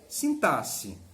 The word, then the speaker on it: sintaxe: entre morfologia até ou sintaxe e aí quero lembrar você se escreve com x mas a pronúncia é com s sintaxe morfologia aqui sim tá